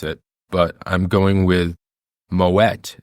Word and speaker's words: Moët: a Dutch name and the t is pronounced at the end of moette good to know